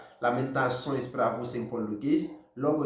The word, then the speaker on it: lamentações: Alors, son gentil, il écrit L-A-M-E-N-T-A-C-C-D-O accent couché, tio em português, E-S. Il prononce comme ça, lamentações.